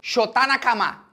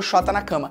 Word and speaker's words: Shota Nakama: No Japão, o nome dele se fala Shota Nakama, tá? Só pra deixar claro, tem explícito aqui, o nome é Shota Nakama. Só que o brasileiro cagou pra pronúncia do nome dele, o nome dele virou Shota na cama.